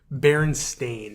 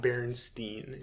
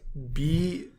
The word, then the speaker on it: Berenstain: So, it's Berenstain, not Berenstein. It's Berenstain. I've been saying it wrong my entire life, though.